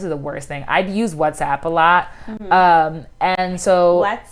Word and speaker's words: WhatsApp: It's WhatsApp. WhatsApp? Okay, not what's up.